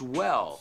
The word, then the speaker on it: well: No decimos as well, gua. No, no, es gua. Con la respiración.